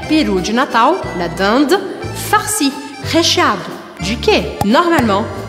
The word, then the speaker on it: dinde: Eh bien oui, nous avons la dinde farcie. La dinde farcie. Como eu pronuncio isso? Primeiro, lembre, IN, eu vou abrir um sorriso. Dinde, dinde, dinde. E eu anasalo o som sem marcar o I.